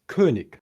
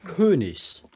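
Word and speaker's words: König: for example the German word for King is Kik and that's how I've always been saying it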